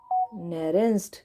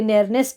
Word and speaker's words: Nernst: नेरेंस्ट, कई नेरनेस्ट बोलते हैं, पर नेरनेस्ट तो मुझे इसकी प्रोनाउंसिएशन नहीं लगती।